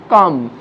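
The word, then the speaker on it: calm: ঠিক এরকম কাউন বলবো না, কাম, তাহলে এলটা উচ্চারিত হবে না।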